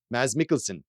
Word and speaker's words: Mads Mikkelsen: And yeah, Wikipedia actually has a recording of him saying it, and he says, Mads Mikkelsen.